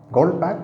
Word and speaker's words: Goldbach: section the goldpack conjecture gold pack it's pronounced gold pack as if you have a K in the end although you have ch now tonight's video does